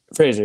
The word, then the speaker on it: Fraser: Fraser, yeah.